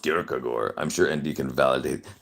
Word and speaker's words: Kierkegaard: It's pronounced Kierkegaard.